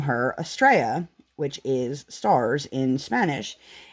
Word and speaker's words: estrella: it and so we decided to name her estrella which is stars in spanish and hopefully i have been pronouncing that correctly i think i have um